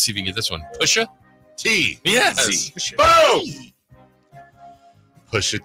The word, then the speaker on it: Pusha T: Pusha T, or Pushat, as some people pronounce it.